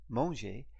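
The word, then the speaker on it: mangé: AV are to have and the Mong part m a n g e acute Mong is the past participle of the verb to eat Mong both these monges are pronounced in the same way so let's eat some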